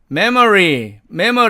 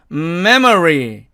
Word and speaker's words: memory: 이 단어는 우리 보통 편하게 읽으면 memory 이렇게 읽지만 정확하게는 memory 이렇게 읽어야 된다는 얘기고요.